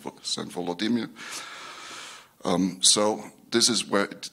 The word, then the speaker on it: Volodymyr: Russian history, whatever Russian means in this context, can be traced back to the baptism of Saint Vladimir, who in Ukrainian is pronounced as Saint Volodymyr.